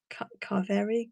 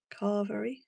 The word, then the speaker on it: carvery: Oh no, I'm saying it wrong. Carvary. Car carvary. Carvery.